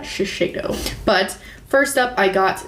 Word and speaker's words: Shiseido: All right, so the next products I got from Influencer are from Shiseido, I believe is how you pronounce that, Shiseido.